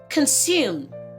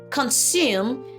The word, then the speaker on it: consume: These two words are not pronounced with the z sound.